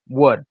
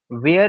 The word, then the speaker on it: were: कन्फज होऊ शकता का मी इथ वेर न म्हणता वर का म्हणतो आहे सो इट ह प्रॉपर प्रोनन्सशन इट प्रन्सशन वर इट नॉट वेर लक्षात ठेवा वर हे प्रॉपर प्रोन्सशन आहे ओके काय वर ओके वेअर म्हणायचं नाही सो आता बघा आपण